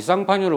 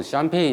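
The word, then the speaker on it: Champagne: 이 쌍파뉴를 우리 영어식으로 발음하면 샴페인 이렇게 된다더라.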